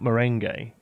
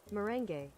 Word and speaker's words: Merengue: It's Merengue, not Merengue. Are you sure? Merengue. Merengue.